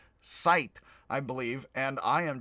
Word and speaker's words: Zeit: z sounds so actually instead of sign on zeit which i actually did say it's sein unt sight i believe and i